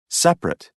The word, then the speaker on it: separate: a listen and practice the vowel immediately after a stressed syllable is sometimes not pronounced average different separate comfortable interesting vegetable page 18 exercise 5